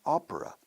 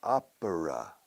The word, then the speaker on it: opera: Fíjate cómo pronunciamos ópera. Opera. Con una A descarada española. Opera. De hecho, un purista diría 3 sílabas. Opera. Pero los nativos decimos opera. An opera. Opera. Like Oprah Winfrey.